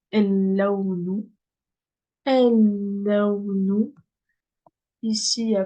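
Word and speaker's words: اللون: Pareil, ici, je prononce pas le lem. Donc, el-lawnu.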